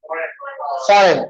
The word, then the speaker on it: foreign: Foreign. Okay, foreign तो कोई भी नहीं बोलते इसको. G is completely silent here.